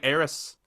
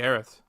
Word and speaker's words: Aerith: like a slice mistransa same way as like heiress it was always supposed to be aerith yeah do you remember